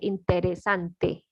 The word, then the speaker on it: interesante: spanish yes and here this word is long interesante is five syllables so please don't miss any syllable and remember the letter